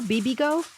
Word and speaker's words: Bibigo: How do you pronounce this? Bibigo? Bibigo.